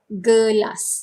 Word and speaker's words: gelas: So in Malay, almost similar pronunciation, but gelas. Instead of glass, then we say gelas.